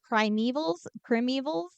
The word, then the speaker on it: primeval: So the primevals, probably putting the wrong emphasis on the wrong syllable again. Have you heard anything about this movie before? No, but I do know that the word is primeval. You are correct.